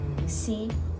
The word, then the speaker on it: c'est: Again, this E is silent. C'est mon, like you have a G.